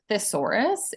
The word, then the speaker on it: thesaurus: it's but it's pronounced thesaurus it kind of sounds like a dinosaur um but thesaurus means